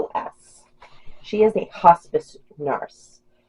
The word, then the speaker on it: Vlahos: I don't know how to pronounce it. It's Vlahos. Vlahos.